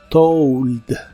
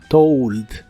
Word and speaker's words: told: el pasado es told se pronuncia como si tuviera una u después de la O told told y se usa en